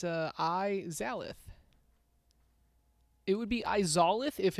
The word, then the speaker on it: Izalith: Izolith. What did I say? No, it's spelled Izalith. It's Izalith.